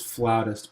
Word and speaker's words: flautist: everyone plays piano technically it's flautist but I didn't want other people to think I pronounced it wrong now we have educated